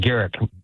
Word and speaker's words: Garrick: Derek, you're Derek, right? That's it, Garrick with a hard G.